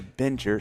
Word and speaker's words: binger: When you discover a new show, are you more of a binger? Some people would say binger, but I say binger.